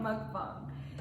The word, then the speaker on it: mukbang: Mukbang.